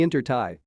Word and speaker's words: intertie: to social he says oh the inter tie yeah it rhymes with tie dye not who is she